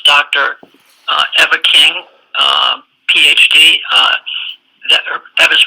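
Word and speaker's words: Ewa: Eva King, PhD. Eva's first name is spelled E-W-A, but pronounced Eva, and it's Richard Huard, PhD, H-U-A-R-D.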